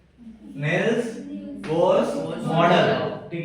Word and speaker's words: Bohr: अब इसमें एक मॉडल भी आता है जिसको हम बोरन्स मॉडल भी बोलते हैं, बोर्स मॉडल भी बोलते हैं, ठीक है।